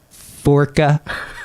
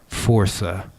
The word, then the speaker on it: Força: And they're like, Forca. And I'm like, Força. Force with an A. Yeah. Portuguese for strength.